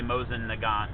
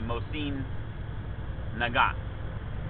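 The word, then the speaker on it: Mosin-Nagant: a mosim theun and most people say Mosen Nagant but it's it's actually Mosin nagat you don't say the T and it's an O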